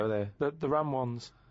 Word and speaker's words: Ramones: The ram ones, right? If you write that down, No, What's he's not that? even write it down. It's a... that's It's a... Ramones.